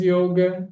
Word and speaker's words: yoga: She does yoga three times a week. Oh, muito obrigado, Thaí. Eu estou falando, eu estou colocando aqui como se fala. Não tenho u na escrita, é só na pronúncia mesmo.